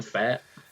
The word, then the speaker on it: Pfaadt: Brandon Fat.